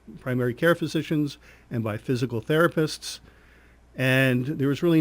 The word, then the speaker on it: FYZICAL: physical therapy and Rehab it's now called physical therapy and balance centers spelled F Y Z IC al physical therapy and balance centers we say it's spelled different because we are different and what we've done